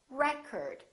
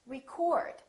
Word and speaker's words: record: another word this word if it's a noun it's pronounced as record the first syllable is stressed record this o changes